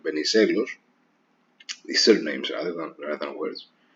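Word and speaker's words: Βενιζέλος: In any case, his recommendation, his rule rather, was that these words that are stressed on the second syllable, like Venizelos, these surnames rather than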